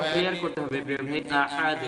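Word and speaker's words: أَحَد: আচ্ছা, উচ্চারণটা আরো ক্লিয়ার করতে হবে প্রিয় ভাই, আহাদ গলার ভিতর থেকে, হ্যাঁ, আহাদ আহাদ, আহাদ।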